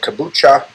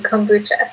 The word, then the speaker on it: kombucha: many different things and uh another thing called kobucha um and um dave pronounce it right indeed how i pronounce that thing um i think you pronounced her it's um kombucha yeah so it's fermented tea it has the